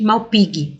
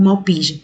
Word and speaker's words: Malpighi: Através de tubos, que a gente chama de túbulos de Malpighi, ou Malpighi, tanto faz a pronúncia.